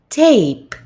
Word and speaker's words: tape: But in the second word, where we can see the silent E at the end of it, what we read is tape, tape. So when there is no silent E, I read tap. But with the silent E at the end of the word, I read tape.